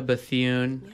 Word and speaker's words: Bethune: But as we go around the horn here, sitting next to me, Bianca Bethune.